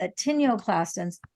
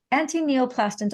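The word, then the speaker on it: antineoplastons: questions but the thing to know is that attenioclastons actually I mispronounced it anti-neoplastms antineoplastones are peptides that are found in the urine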